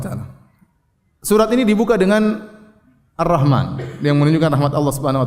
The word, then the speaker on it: Ar-Rahman: Jangan dibaca alif lam ra ha mim nun, ya, jangan. Ya, jangan sampai salah baca alif lam ra ha mim nun, salah. Ini bacanya apa? Ar-Rahman, ya.